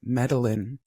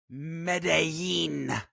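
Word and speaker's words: Medellín: pronounce the city and you said Medellin oh it's Medellin did it it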